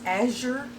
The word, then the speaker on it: Azure: came from azure and i call it azure and i think it's azure as your standard but my goodness it's